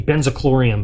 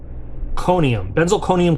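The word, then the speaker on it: benzalkonium: I always mispronounce this. I always say benzochlorium, but that's not it. What are they? Benzalconium chloride.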